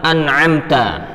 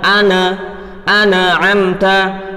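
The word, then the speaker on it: أنعمت: Contoh, nun sukun pada kalimat an'amta. Lah, ketika kita baca ana amta, ana amata, ya kan? Nun sukun dan mim sukunnya kita pantulkan, ana amata, hada khoto. Ini merupakan kesalahan al-khafi.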